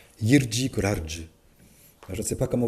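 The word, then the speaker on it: Jiří Kolář: On m'a dit non, pas Jiri Kolar, Jirji Kolarge.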